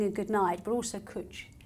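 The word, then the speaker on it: cwtch: good night but also cooch which means cuddle in Welsh and they but they use it for they spelled like with a W in it isn't it yes it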